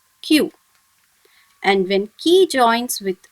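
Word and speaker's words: きゅ: When ki joins with a small u, should be pronounced as q.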